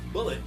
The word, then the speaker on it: Bullet: Bullet, former member of Goldie Roger's crew, whose name is pronounced like mullet in the dub because, well, he has an enormous mullet.